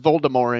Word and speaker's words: Voldemort: is actually silent the name is to be pronounced voldemort and jk rowling herself to fight the fact